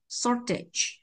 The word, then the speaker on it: shortage: chúng ta gì ạ không thể đọc là sí được ạ bởi vì trọng cái tiếp vị này không bao giờ nhận trọng âm ạ Mà bạn đã thả trọng âm sai rồi bạn thả thấy dấu sắc nữa thì càng sai đúng không Vậy không thả như vậy được ạ Mà chúng ta phải đọc là gì ạ trongng â m ạ shortage shortage Được chưa ạ Đấy